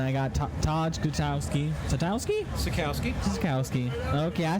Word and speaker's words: Sutkowski: Sutkowski.